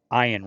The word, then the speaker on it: Ayn: Those who are familiar with the writings of Ayn Rand or Ian Rand, however you want to pronounce her first name, It's Ian.